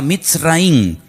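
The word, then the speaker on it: מצרים: país de Egipto, que en la Biblia se pronuncia mitraín.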